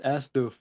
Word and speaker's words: asdf: and stuff like that it's pronounced as doof that's astm it's you